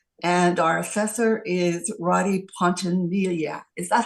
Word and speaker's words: Pontanilla: Technically, it's Pontanilla, but however you want to say it is okay. Okay. I actually looked it up last night to see how you pronounce double L's. The Spanish Okay. last name, so the two L's make a yes sound.